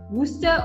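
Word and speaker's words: Worcester: playing the video again and again of the pronunciation it just goes wooster or wooster it must be some xma okay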